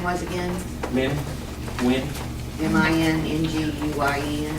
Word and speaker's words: Minh: Min Nguyen. Minguyen? MINH. H is silent.